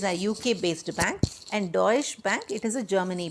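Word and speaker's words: Deutsche: UK based bank and Dees Bank it is a Germany based Bank you need to pronounce it as does next type of bank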